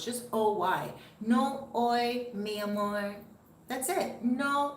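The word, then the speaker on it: hoy: is today h-o-y but you don't pronounce the h so it's just o-y miami that's it no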